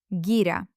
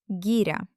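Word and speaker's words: гиря: Gira. We haven't learned the letter Yah as a separate one yet. But as part of this word, let's just pronounce it as a soft finale. Try it. Gira.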